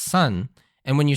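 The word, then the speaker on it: 三: the three spot because in Japanese three is pronounced sun and when you're saying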